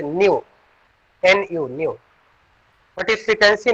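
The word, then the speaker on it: ν: This is pronunciated as nu.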